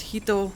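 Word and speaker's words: 仁: it in their name it's usually pronounced hito so got akihito and naruhito and so on so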